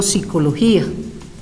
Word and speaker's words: psicología: con la PS Sí pero para la pronunciación la Real Academia Española ha aceptado que por pronunciación por fonología no se pronuncie inclusive los estudiantes por